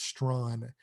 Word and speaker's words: Strawn: That's how it's pronounced, is Strawn.